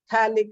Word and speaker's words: phthalic: P is silent, so we call it a phthalic acid, COH on the adjacent carbon atoms.